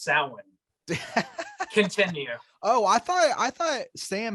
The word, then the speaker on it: Samhain: Like what killed me about that is how they mispronounced Samhain.